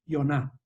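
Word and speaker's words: יונה: Jonás en hebreo se dice Yoná.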